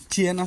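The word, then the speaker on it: Siena: পাইছে আজকে চিয়েনা শহরের আপনারাও এটারে উচ্চারণ করবেন সিয়েনা কিন্তু এখানে আপনার ইটালিতে এটারে বলা হয় চিয়েনা চিয়েনা শহরের আপনার ছয়টা ভিসা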